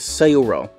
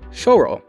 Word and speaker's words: Syo-ro: rightfully so maybe that it should be pronounced closer to choro then the conversation dives